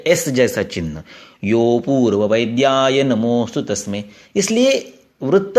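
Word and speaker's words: योऽपूर्ववैद्याय: इस कारण से इस अ का उच्चारण नहीं करते हैं। यो अपूर्व वैद्य ऐसे नहीं कहते हैं, उसको यो को थोड़ा सा लंबा करना है।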